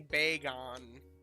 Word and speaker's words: Bagon: No, it's technically Bagon. Technically. It's technically like Bay and then Gon. Like a polygon ending with Gon, but yeah.